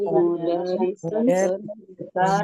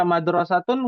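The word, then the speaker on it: مُدَرِّسَةٌ: Ya, jangan sampai terkecoh lagi nih, ya. Mentang-mentang tulisannya sama yang nomor 1. Jadi dibacanya hadhihi madrasatun. Ya. Ya. Tulisannya sama, harokatnya beda, artinya beda. Jangan sampai salah. Ya. Madrasatun sekolah, kalau mudarrisatun guru perempuan. Ya, kalau tadi ada yang baca madrasatun nggak masuk nih.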